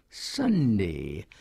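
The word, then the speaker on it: sandhi: These things that were not taught to you, but which you learned by yourself, like Sunday, S-A-N-D-H-I, pronounced the same as Sunday, you can't teach.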